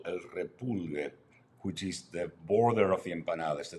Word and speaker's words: repulgue: El repulgue, again, something you need to be able to roll your R's to say.